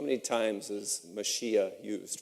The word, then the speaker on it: Mashiach: Mashiach is how it's pronounced, is in the Bible, refers to, it is the Messiah, and it refers to one who's anointed.